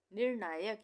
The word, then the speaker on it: निर्णायक: निर्णायक। निर्णायक, यहाँ पे भी रेफ की मात्रा का प्रयोग हुआ है र को आधा पढ़ने के लिए।